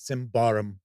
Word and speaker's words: Symbaroum: But I guess I've had people get mad that I don't take the pronunciation of this game seriously enough. So yes, it is Symbaroum.